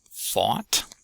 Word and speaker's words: fought: Second word is fought. fought fought That's got the aw vowel in it.